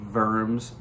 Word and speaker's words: Worms: organized a trial in verms germany now that's spelled w-o-r-m-s which in english looks like worms but in german it's pronounced verms so this trial is